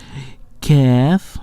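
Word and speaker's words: ك: Kaf, yeah, Kaf, it's close to Qaf, but Qaf is a heavy, and Kaf it's a light letter.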